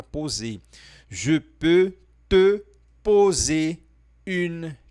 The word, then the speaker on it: poser: E aí você vai falar o O mais fechado, o O do vovô aqui nessa palavra poser.